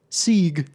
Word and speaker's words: segue: Se. That's how it sounds.